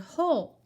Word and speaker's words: whole: want the whole cookie so this is how we spell the word hole the W is silent one hole this